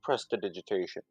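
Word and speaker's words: prestidigitation: up it sucks anyways i don't understand how people mispronounce it it's presta digitation listen listen if you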